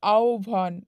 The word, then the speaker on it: আহ্বান: মধ্যান্য স দন্তস হ আহ্বানের প্রকৃত উচ্চারণ হচ্ছে আহ্বান দেখো আহ্বান আহ্বান আহ্বান করো না ওইটা কিন্তু ভুল আহ্বান জিওভ এরকম এবং